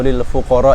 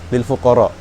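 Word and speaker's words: للفقراء: satu sahabat mengatakan eh membaca ayat suci Al-Qur'an in innamodqatu lil fuqar wal masakin tanpa menyebut eh tanpa membacanya dengan mad. Jadi seperti ini. Innamodqatu lil fuqar wal masakin.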